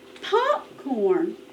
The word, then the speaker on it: popcorn: Listen. Popcorn. Popcorn. First syllable. First syllable.